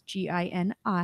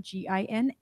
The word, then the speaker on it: Gini: Because it's Gini, it's not Gina, it's not Gigi. I'm going to pronounce it for everyone since we're doing audio here. Gini. Thank you. It's not Jenny.